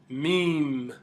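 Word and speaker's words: م: hook lamb lamb next letter would be letter meme meme another letter with so a magnificent um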